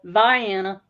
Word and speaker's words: Vienna: since it's Southern Illinois there you go yeah Viana yeah Viana and caroen says interesting huh okay